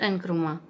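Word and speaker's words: Nkrumah: क्वामे एनक्रुमा, pronounced एनक्रुमा, सन of student.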